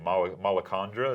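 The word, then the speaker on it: Malacandra: on what you say Mal mondra is that how we're saying it that's how I've been saying yeah we're going to use the the the soft a um which is we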